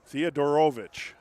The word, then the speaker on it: Theodorovich: Nathan Theodorovich. is the pronunciation key that's on my roster. Theodorovich.